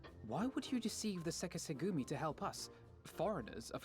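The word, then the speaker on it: Sekiseigumi: Ah, so it is how it's pronounced, I just didn't know. Why did I think it was Sekitsugumi? The verbiage is all in the wrong place for that. So, Seki Segumi. Got it.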